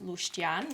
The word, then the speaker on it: luștean: So this one is pronounced luștean in Luștean? Romanian.